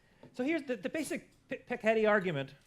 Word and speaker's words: Piketty: So here's the basic Piketty argument. I actually don't know if it's Piketty or Piketty. I'm not sure how to pronounce it.